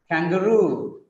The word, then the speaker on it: kangaroo: The stress is on last syllable here, guarantee, kangaroo, kangaroo, bamboo, engineer, engineer, Japanese, Japanese, picturesque, picturesque, cigarette, balloon, balloon. In all these examples, the last syllable is stressed.